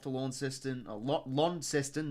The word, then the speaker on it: Launceston: lawn system a lot Launceston not law in sestan Launceston they start pronouncing that right uh first Hawks game